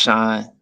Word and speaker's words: Sean: greetings goddess me to it's spelled Sean but it's just pronounced Shan oh it's Sean okay